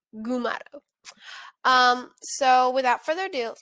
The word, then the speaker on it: Gumato: mugato gumato i think that's that's how you pronounce it mug it's not megado gamato is mugado gumato um so without further ado let's get started